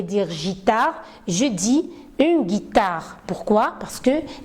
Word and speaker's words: guitare: guitare, je dis une guitare. Pourquoi? Parce que j'ai intercalé un U entre G et I et comme ça, j'ai la possibilité de prononcer une guitare.